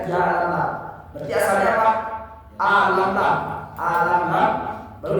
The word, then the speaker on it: Yalamlam: Ada satu bukit yang ada jaraknya itu 2 pahala dari Mekah, namanya Yalamlam. Bacanya Yalamlam.